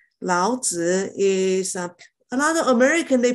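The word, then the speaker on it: 老子: is the third information keep in mind it's a third intonation uh sister iris can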